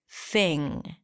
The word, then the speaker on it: thing: is my thing and notice how I said thing without popping my sound at the end because it ends with an NG so you don't really release the G here thing and I hope you're